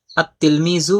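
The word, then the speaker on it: التلميذ: যেমন উদাহরণ দেওয়া হলো তিলমিজুন এর শুরুতে আলিফ লাম যুক্ত হলে আত-তিলমিজু এটা উচ্চারণ হবে আত-তিলমিজু, কিন্তু লেখার মধ্যে আত-তিলমিজু লিখতে হবে, লেখার মধ্যে লাম লিখতে হবে, কিন্তু উচ্চারণের মধ্যে লাম উচ্চারণ হবে না।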